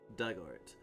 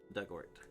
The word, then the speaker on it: Dugort: Pronunciation, dug like in the past tense of dig. Ort. Rhymes with hurt. Dugort.